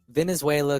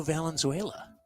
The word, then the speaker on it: Valenzuela: still be pitching uh let me go with Venezuela crisp Tanaka that's not how you say it